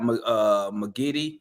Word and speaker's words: Giddey: You got McGiddy. Is that how you say his name? Did I say it Yeah, wrong? and I think it's Josh Giddey.